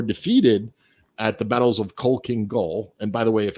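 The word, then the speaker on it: Khalkhin Gol: they uh were defeated at the battles of coal king goal and by the way if anyone's wondering that's spelled k h a l k h i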